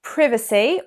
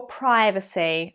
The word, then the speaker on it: privacy: Privacy or privacy. Again, American and British, but again, the Brits have been influenced by Americans and you will often hear privacy. But traditionally, the more accepted pronunciation in the UK was privacy.